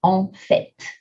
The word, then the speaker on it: en fait: Actually is en fait. One of the few times where you pronounce a T at the end of a word in French. En fait is one of them.